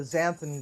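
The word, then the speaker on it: xanthan: So, um, you'll want to get a little bit of zanthan gum. And you can buy that on Amazon. It's spelled X A N T H A gum.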